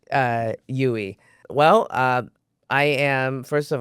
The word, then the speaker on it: Duy: of it more consistent, how you say my name is Yui. So think of me when you do a U-turn, U-turn. I like it. right? Yes. So the D is silent, Yui.